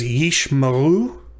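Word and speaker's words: יִשְׁמָעֵאל: so this word is ishmael and yeesh is a single syllable the the herek the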